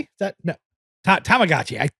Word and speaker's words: Tamagotchi: Ta- uh Tachigachi? Is that No. Ta- Tamagotchi.